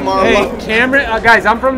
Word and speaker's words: Marlowe: Bro, you guys said not to say it like a wine. Cameron Marlowe. Marlowe. Marlowe. Cameron Marlowe. Marlowe. Not Merlot, Marlowe.